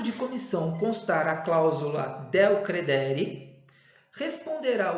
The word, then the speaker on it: del credere: Quando existe a cláusula del credere, ou cláusula del credere, como queiram, tá? A pronúncia é essa.